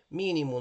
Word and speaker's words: mínimo: Bom, mínimo, nós temos 3 sílabas. A mais forte, a antepenúltima, é a terceira, tá bom?